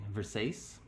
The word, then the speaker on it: Versace: Versace?